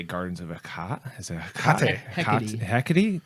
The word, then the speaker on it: Hecate: you always pronounce the E at the end of a word.